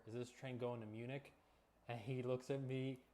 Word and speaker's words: München: excuse me, sir, is this train going to Munich? And he looks at me with just rage in his eyes, and he goes, it's pronounced München!